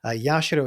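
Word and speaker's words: 社: tenio story Kam yashiro yashiro is actually another pronunciation of the characters uh the Kani characters that are usually read as Ginga or Shrine uh like a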